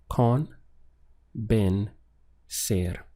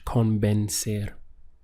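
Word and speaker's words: convencer: Spanish is convinced air so we have three syllables con been ser notice that in the English spelling we have an I here but this changes into a sound and Spanish con bend ser to express something like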